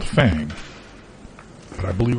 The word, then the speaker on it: Fang: I It's spelled fang, but I believe it's pronounced fong. I think you're right. And if it's spelled fang, then it's pronounced fang. I think maybe it's too